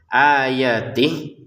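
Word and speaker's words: آياتِهِ: Ayatih itu enggak panjang. Jadi kalau kita sukun ya, kalau kita membacanya berhenti, ini terbaca sukun, terbaca berhenti itu enggak panjang. Ayatih gitu. Kalau digabungin baru panjang ya, 2 harokat.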